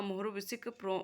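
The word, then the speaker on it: Mohorovičić: earthquakes and is named after its discovers a Morovicic pronounced as Morovicic.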